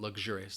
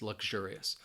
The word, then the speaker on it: luxurious: So it kind of just sounds like when I say it, that it almost sounds more like a G sound, luxurious, luxurious.